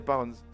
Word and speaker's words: lbs: Alors ça s'écrit LBS, mais en fait c'est des pounds.